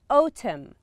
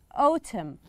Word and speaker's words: autumn: in winter it is in winter this is autumn here we have a silent letter this is autumn we don't pronounce the end and this is